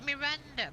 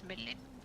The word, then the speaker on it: Melinda: to Horus and Melinda I thought it was Miranda but no it's milinda actually hi everyone seems to get the name wrong the seldom fellow thought